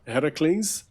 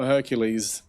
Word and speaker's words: Heracles: it introduced me to Heracles. correct pronunciation, not Hercules. That's a That's a mis translation.